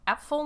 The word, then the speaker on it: Apfel: Yes, Apfel, not apple. I'm not just drunk and pronouncing it incorrectly. Apfel is German for apple.